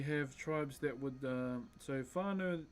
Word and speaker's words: whānau: We have tribes that would, so whānau, an F in our language is a WH. And there are some tribes that say wānau, so they silence the H within the WH. So it's not so much pronounced like an F.